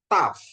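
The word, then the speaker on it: ταυ: Oke, terus yang berikutnya, ya, ada taf, ya, taf, ya, taf untuk kata untuk T, ya, transliterasinya T, ya, taf, bacanya taf, ya, Bapak Ibu, ya, taf, ya.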